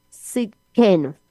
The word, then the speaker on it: Tsidkenu: Se escribe T de tetero, S, y D de Dios, K-E-N-U, Sidkenu, Yahweh Sidkenu.